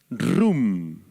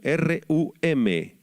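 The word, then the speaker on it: רוּם: o ensoberbecer es la palabra hebrea rum con acento en la u rum rum esto significa que El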